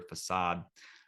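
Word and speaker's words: Fassad: P his kind of owner or this Peddler facade uh is that how you say his name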